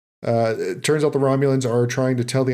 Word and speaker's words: Romulan: was like because like obviously I know it's pronounced Romulan in the Star Trek universe but like I